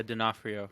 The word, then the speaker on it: D'Onofrio: Yeah, D'Onofrio.